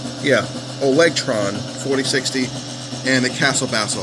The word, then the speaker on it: Olegtron: Let me just make sure I'm pronouncing this right. Yeah, Olegtron 4060.